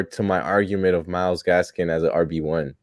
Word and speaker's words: Gaskin: I know, but I feel like you're adding more to my argument of Myles Gaskin as an RB1. You said it wrong. I said it right. No, I It was made Gaskins.